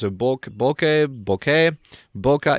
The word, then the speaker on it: bokeh: a book bokeh bokeh bokeh is bouquet but it's because it's japanese pronunciation ways to spell but